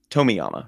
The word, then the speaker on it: Tomiyama: I mispronounce his last name with Akira Toriyama sometimes, who's the Dragon Ball creator. Tomiyama, right? Yes, Shogo Tomiyama.